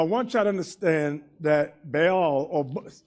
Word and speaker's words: Baal: Now, I want y'all to understand that Baal, or many books pronounce it Baal rather than Baal. They go pronounce it ball, as like football, baseball, basketball.